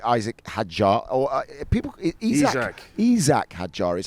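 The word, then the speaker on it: Isack: going to be Isaac Hajar or people Isac Isak Hajar is how he pronounces. I've been calling him Isaac all year.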